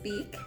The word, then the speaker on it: Beich: Hello families, I am Mrs. Beich, pronounced like a bird's beak, and I'm here to